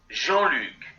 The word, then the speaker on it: Jean-Luc: 근데 그게 불어 이름이기 때문에 제가 이 불어 이름을 어떻게 발음하는지 찾아봤습니다. Jean-Luc.